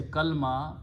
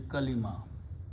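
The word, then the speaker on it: كلمة: We say kalma, it is actually kalima.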